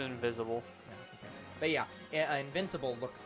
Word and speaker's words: Invincible: So there's another franchise called Invisible. No. Oh, you are mispronouncing it. It's I was missaying Invincible.